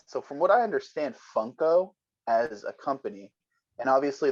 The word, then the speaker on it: Funko: spelt is yeah f-u-n-k-o so it's like funk o but if you kind of think about the spelling and the sound of it it's fun co like fun company so it kind of